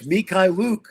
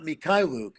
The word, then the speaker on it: Mikhailuk: And I'm like, no, it's Mikhailuk, not Mikhailuk, So Jeremy told me today it's Sochan.